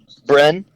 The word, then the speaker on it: Bren: How do you pronounce it? Brandon? Bren.